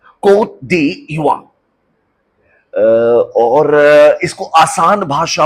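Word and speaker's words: Côte d'Ivoire: इसका प्रोनाउंसिएशन भी बड़ा अनोखा है। इसे कह रहे हैं coat D Eva, coat D इवा।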